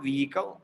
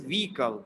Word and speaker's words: vehicle: we got vehicle vehicle it is not vehicle h is silent in the british pronunciation so it is vehicle lots of vehicles are